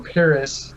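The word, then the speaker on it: Peris: P-E-R-I-S, or Paris, if you want to pronounce it correctly, M-A-D-A-K.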